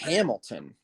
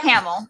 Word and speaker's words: Hamill: does for the joker hamilton am i saying his name wrong you talking about camel yes i am mark hamill i know you know